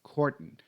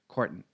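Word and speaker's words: cordon: something off pent to the pronunciation of that last syllable it's courton courton pronounced with a schw courton something off and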